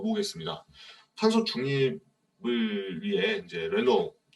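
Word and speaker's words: Renault: 탄소 중립을 위해 이제 르노 이게 발음이 좀 어려운데 이 프랑스 자동차 회사입니다. 또 캐나다 분이셔서 제 발음을 더 이상한지 더 아시겠고요. 르노.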